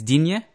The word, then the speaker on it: Digne: Is it Dean or Digne? Because it's Digne? Or here they say Digne. Yeah, that's what I'm going to say, because the Spanish pronunciation, you pronounce every letter. But in France, it's more silent.